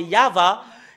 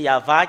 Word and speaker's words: Yahvah: voyons dans le chef t des Juifs c'est yava et ça prouve très bien que voilà la vérité juste en haut qui euh confirme cette ce terme que c'est yava qui est le vrai il avait n'est pas